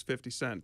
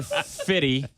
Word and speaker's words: 50 Cent: Uh, you know, the last one I heard was 50 Cent. That's who it is. It's saying it wrong. It's his brother Fred. It's his It's his brother Fitty.